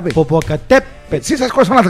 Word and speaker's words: Popocatépetl: Pero se pronuncia Popocatépetl. Es grave. Popocatépetl.